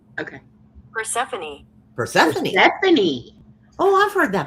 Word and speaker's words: Persephone: Persephone. Stephanie. Oh, I've heard that before. Okay. That does not look like it's spelled at all.